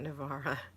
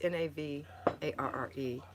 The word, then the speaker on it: Navarre: pensacola no it's not navarra nobody calls it my step-daughter pronounced it navara it's n-a-v-a-r-r-e and it's pronounced navarre anyway donna you are